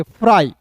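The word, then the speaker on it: fry: फिर देखिए FR को क्या पढ़ेंगे, फ्रॉ, अंतिम में वाई आएगा तो इसका उच्चारण आई के रूप में करेंगे, फ्राई।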